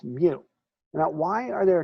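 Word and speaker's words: μ: Now, this U with the hook is pronounced mu.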